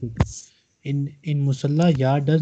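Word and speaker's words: مصلى: Musalla. Sir, musalla we have to say. Or musallun. Musalla. Because it does not have any vowel at the end. It has alif at the end. Alif maksura.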